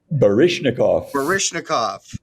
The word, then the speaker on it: Baryshnikov: Baryshnikov.